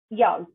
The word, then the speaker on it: jag: ইয়গ আর সিফাত, ইয়গ অর্থাৎ আই, ইয়গ, ই অ গিয়ে, ইয়গ, ই অ গিয়ে।